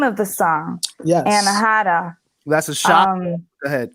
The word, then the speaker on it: Anahata: Am I pronouncing it correctly? I mean, it's Anahata.